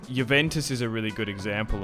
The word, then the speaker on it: Juventus: because I feel like if you want to say I don't know it's like it's with the accent or not Montpelier Granada